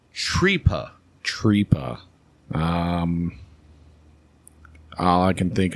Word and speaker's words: tripa: And it's actually pronounced Tripa.